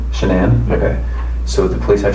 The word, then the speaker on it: Shanann: yes and i don't want to pronounce her name wrong she name shanann okay so the police have shenan's phone yep